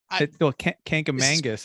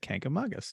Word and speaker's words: Kancamagus: Kancamagus is the wrong way that a lot of people do say, and that's what I used to say when I was a child until my New Hampshire native relatives corrected me and said Kancamagus.